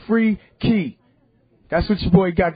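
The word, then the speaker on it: Freekey: spell it f-r-e-e-k-e-y-z-e-k-e-y really the word freaky is two words in one you know what I'm saying it's free key that's what your boy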